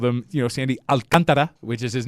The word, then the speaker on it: Alcantara: You could go Alcantara or Alcantara. Okay. It's not the second one.